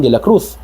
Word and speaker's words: Cruz: Juan de la Cruz kay ang letter z nila ang pa- pronounce kay TH man soan Juan de la Cruz si Spanish ng Santos